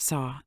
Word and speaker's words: So: As the breath exits, straighten the index finger and mentally chant So, pronounced Saw.